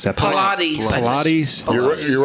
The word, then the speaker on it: Pilates: She's a She's a Pilates instructor. Pilate. How do you pronounce that? Pilates.